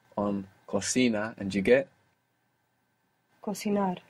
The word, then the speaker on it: cocinar: And to make the verb, you can just stick an R on cocina and you get cocinar. Cocinar, with the accent on the end.